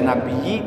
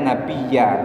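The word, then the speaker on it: نَبِيَّ: sini adalah maf'ulun Bih maka tidak boleh dibaca nabii tidak boleh dibaca nabiyu membacanya nabiya karena dia adalah maf'ul mansubun Bil fathati mansub dengan fathah annal musyrikina sagalun nabiya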